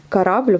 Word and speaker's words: корабль: Корабль, pareil, on prononce A, puisqu'on a un accent là sur le A deuxième et pas sur le O.